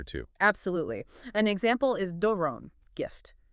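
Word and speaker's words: δῶρον: An example is doron, gift. That first syllable, do, with the long omega, gets the rise and fall. There's a doron with the rise fall.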